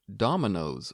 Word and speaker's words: ドミノ: So try saying, on Saturday, Domino's will go. 土曜日にドミノに行きます。 Did you change that da to do for correct pronunciation?